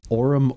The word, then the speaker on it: aurum: pronounced this right uh aurum orbitals our orbitals a-u-r-u-m are our Aura aura yes it's almost like Aura but it's not um so this one